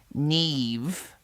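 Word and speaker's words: Niamh: Young Neve, pronounced Neve, arrived first, as she always did.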